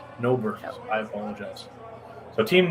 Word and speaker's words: Nobert: We've been saying it wrong. Apparently we can't read it. So apologies to the team. Hey, listen, I freeze water for a living. So it's Nobert. Nobert.